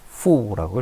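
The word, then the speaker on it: 妇: 중국어로 후라고 읽힙니다.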